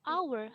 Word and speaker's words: hour: Padahal depannya kan h, ya nggak? An hour. Kenapa nggak a hour? Karena pengucapannya adalah hour, hanya nggak dibaca. Jadi an hour gitu.